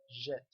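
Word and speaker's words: Djet: Now this DJ is pronounced like a soft J, like a letter J in English, okay?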